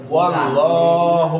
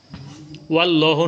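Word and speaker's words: وَاللَّهُ: ওয়াও জবর ওয়া এই দেখেন উচ্চারণ মনে রাখেন এটা অনেকে ভুল করে গিয়া ওয়াল্লাহু এই যে ওয়াল্লাহু ওয়াল্লাহ বলিও না ওয়াল্লাহু আল্লাহু আল্লাহু অর্থাৎ জবর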